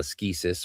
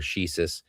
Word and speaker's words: ascesis: warfare which of course we call a skeusis or a shisus depending whether you're using a Greek pronunciation or an English pronunciation of the Greek word um which often today